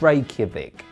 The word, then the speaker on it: Reykjavik: leader radda Reykjavik the capital of Iceland is Reykjavik which literally means Bay of smokes rome rome